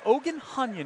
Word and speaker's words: Ohandzhanian: he were corrected on ogan hanyan is the correct ukrainian pronunciation is that one's thrown